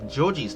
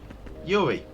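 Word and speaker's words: Jorji: I was pronouncing Georgie's name here as Yuri, because I thought it was silent J's, and yeah. Anyway, yeah, it's Georgie, not Yuri.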